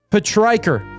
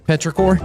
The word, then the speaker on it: petrichor: I've read this word, and in my head, I've always said it petrichor. Petrichor? But it's petrichor.